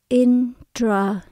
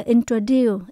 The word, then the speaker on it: introduce: Động từ là introduce ở trong từ này chúng ta nhấn âm cuối cùng chúng ta đọc introduce tận cùng có chữ